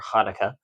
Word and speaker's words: Hanukkah: of Hanukkah yes which happy Hanukkah everybody or Hanukkah depending on how you pronounce it if you pronounce it with the H or the CH that was that was